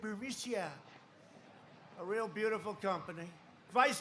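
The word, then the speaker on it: Burisma: alleged meeting with the burmesa executives so this uh buremicia bermucia they say pronounce it borisia a real beautiful company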